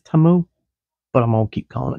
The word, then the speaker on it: Temu: not updating Teemu so that TAMU I think is how it's pronounced at least if you hear the com the ads done by demo it's TAMU I've been calling it Teemu the whole time everybody was calling a